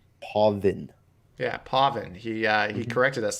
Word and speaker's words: Pavan: Pavan you're mispronouncing it no it's Pavan yeah I've been having a hard time we got it written down on my sheet how to say it I'm probably will mispronounce it throughout and it's no disrespect it's just one of those things that you know you hear it over and over again from different players and different people that you know you kind of get that pronunciation yourself but it is definitely Pavan yeah Pavan he corrected